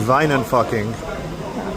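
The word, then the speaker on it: Wynand Fockink: Going to Wijnenfucking, the original Geneva distillery in Amsterdam. And yes, that's the proper pronunciation.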